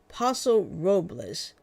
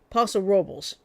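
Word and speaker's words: Paso Robles: Uh, basically what they did was they they went to a place in California called Poso Robas, but the guy in the guy who actually lives there said Posel Robels.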